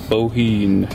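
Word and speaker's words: Bohinj: Bohine. Don't pronounce the J.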